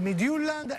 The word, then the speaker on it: Midtjylland: Napoli-Fiorentina, Midtjylland-Napoli, mi dicono si pronunci così, Chievo-Napoli, Napoli-Palermo, Genoa-Napoli, il ritorno della gara con il Midtjylland e poi Napoli-Udinese.